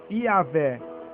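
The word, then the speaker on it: Yahweh: Portanto, a verdadeira pronúncia do nome próprio de Deus é Yahé. Transliterado Y, A, H, V e H. Yah, sendo que o H afinal não é pronunciado.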